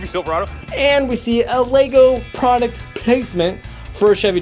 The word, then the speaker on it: LEGO: Of course one can argue that the whole movie is actually product placement for LEGO's It's pronounced LEGO not legos. There's not an S at the end of LEGO get your facts straight.